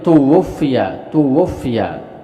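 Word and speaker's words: تُوُفِّيَ: Jadi dibacanya tuwfiya.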